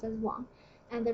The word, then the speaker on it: 王: It's a character by itself called Wang, pronounced as Wang.